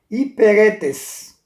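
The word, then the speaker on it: ὑπηρέτης: E assim, no caso aqui o grego, a pronúncia dessa palavra servos era hiperetes, que tem como tradução encarregado. Alguém que está encarregado de alguma coisa. Eperetes, encarregado, significa isso.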